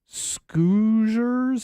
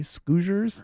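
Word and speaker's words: Skoosherz: selling a product called scers I'm not sure if I'm pronouncing that correctly s k o o s h e r z scers scers um and uh the allegation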